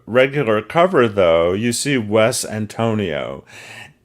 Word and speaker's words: Wes Antonio: cover though you see Wes Antonio and not Antonio West Antonio and I'm actually reading what it says on the cover phonetically as it as it is uh written it's written phonetically to be pronounced this way so Wes Antonio are